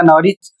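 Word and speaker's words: Norwich: जैसे यहां पर लिखा है एन ओ आर डब्ल्यू आई सी एच। इसे पढ़ा जाएगा नरिच।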